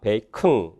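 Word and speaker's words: bacon: 베이컨 그렇게 슈아를 넣거나 슈아가 탈락되면 베이컨이 아니라 베이큰 빌라 사운드로 어시밀레이션이 일어나고요.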